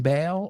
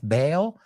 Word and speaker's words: Bale: Any fans of Christian Bale or Gareth Bale? Aunque esa se escribe B-A-L-E, pero se pronuncia exactamente igual.